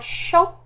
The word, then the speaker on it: chant: On a chant avec T muet.